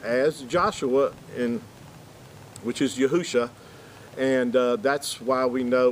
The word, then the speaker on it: Yahusha: yeah with that said it's five letters you'd yad hey uh shane would give you the pronunciation of yahusha now where do we